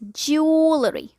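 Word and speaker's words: jewellery: डू you call it ज्वेलरी और ज्वेलरी? जी, इट्स ज्वेलरी। One more time, ज्वेलरी।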